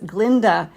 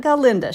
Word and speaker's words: Glinda: So, the correct pronunciation that I need to be using today for our wicked themed nails is Glinda. Okay. So, it's not Galinda.